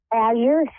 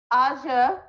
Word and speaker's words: Azure: How do you pronounce it, darling? Azure. Azure. Yeah, it means the color blue. Oh, lovely.